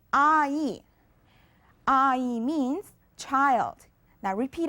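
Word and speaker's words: 아이: Now our first word is made up of the vowel a plus the vowel e. Together, it's ai.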